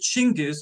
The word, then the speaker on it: Chinggis: of chinggis khan and i will pronounce it chingus because that's the way the mongolians pronounce it and his nomadic hordes